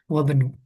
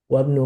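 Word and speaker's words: وابن: Cuman ada penggunaan ini namanya nanti ada hamzah wasol ya. Nah itu ketika di kata kalau ada sebelumnya dan di wasol ini nggak dianggap atau alias nggak diucapkan. Jadi langsung wabenu. Silakan. Oh, betul. Wabnu man huwa huwa abanu Khalidin.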